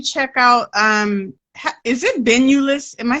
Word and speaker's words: Benulis: make sure you check out um is it been you list am I saying that right uh doctor right so don't worry about it but it is pronounced banulus like don't try to vanillas yeah you know it's fun I I was